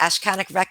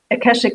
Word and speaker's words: Akashic: No, and you mentioned I can't pronounce it. Ashkanic say the word for me. Akashic records.